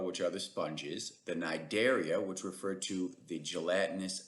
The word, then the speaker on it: Cnidaria: are the sponges, the Cnidaria, which refer to the gelatinous stinging organisms, and the Ctenophora, the comb jellies. The C is silent on both of those phyla.